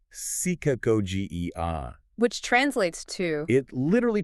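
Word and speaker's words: ψυχαγωγία: He says true rhetoric is psychagogia, pronounced psychagogia.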